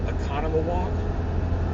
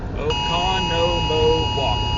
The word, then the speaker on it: Oconomowoc: Economawalk? I think so. Somebody in chat tell me how to say that town. I'm looking at chat right now. Somebody tell me. How do you say that? Oconomowoc.